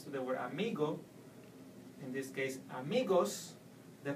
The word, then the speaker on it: amigo: example in the word amigo you no no longer stress in the end you will have to go to the second last syllable and pronounce me Amigo it's important to know